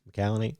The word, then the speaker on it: McCallany: It was Holt McCallany. right. Yeah. Is that how you say his name? Close. McCallany. McCallany.